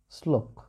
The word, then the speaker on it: শ্লোক: শ্লোক। দেখো এটা বানান, কিন্তু এটা উচ্চারণ।